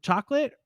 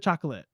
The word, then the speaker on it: chocolate: I don't think so I think it's two syllables I always argue with people about this I say like you don't go into Dairy Queen and say I'd like a chocolate ice cream cone you say chocolate like maybe maybe on paper it feels syllables but like in everyday use we don't say that for the most part so